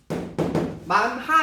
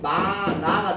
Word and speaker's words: 많아: 만하 이렇게 발음해야 맞죠? 근데 만하 이렇게 발음하면 귀찮아. 그리고 만하든 만아든 의사소통은 돼요. 그럼 굳이 우리가 하 발음을 안 해도 상관이 없지. 그래서 이때는 만하가 아니고 마나가 되는 겁니다.